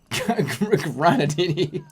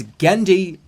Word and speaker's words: Genndy: Gennady Tartovsky. Take down the goddamn poster. Missing a fucking goddamn millennial. Hey, go find the goddamn millennial. Go find that Waterbury millennial. He's somewhere. Granadini. You pronounced his name so incorrectly.